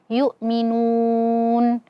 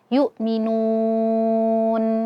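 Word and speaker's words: يؤمنون: Dan ee jangan ee berhenti dengan memonyongkan bibir karena nun yang pertama itu dhammah. Jangan yukminun. Ah, akan tetapi yukminun.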